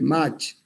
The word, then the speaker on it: Mach: que es el número de Mach, o de Mach, si quieren pronunciar la CH como una J en alemán, y que se define como B sobre A.